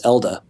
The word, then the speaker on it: Elde: the u.s it's ld if you're in europe it's elder what do you prefer i